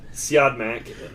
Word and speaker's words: Siodmak: Siodmak is how it's pronounced.